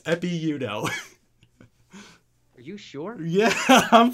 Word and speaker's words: Ekpe Udoh: How about a basketball player, Epi Udo? EKPE UDOH. Whoa. He doesn't. No way. That's. You're saying the K is silent? Yes. I was not aware of that. It's Epi Udo.